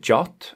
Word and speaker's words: JWT: Json web token or JWT or jot as it's often pronounced is increasingly becoming the